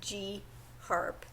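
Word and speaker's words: GHARP: aids reduction prevention program which was called GARP not GARP but G harp I had the name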